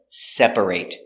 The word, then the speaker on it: separate: separate is a verb but as an adjective or a description we say separate separate make it two separate separate rooms I need two separate rooms two separate hotel rooms so we're focusing on this pronunciation separate not separate but separate together separate separate rooms